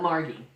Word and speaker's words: Margie: She pronounces it Mar-ghee. Margie.